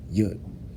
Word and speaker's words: Yud: We commonly associate Yud to be an apostrophe, a comma, part of a semicolon, and in hindsight, what the actual pronunciation is, Yud, disclosed to be said from Jews as the power of God only, in the Hebrew lettering system.